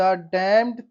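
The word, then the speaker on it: damned: एंड fetch down the डमड thing य एन E silent रहेगा हम इसको डमड पढ़ेंगे डमड डमड थिंग सी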